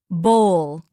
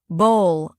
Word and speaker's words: bowl: Word bowl. Wrong. Bowl like ball. Correct. Bowl.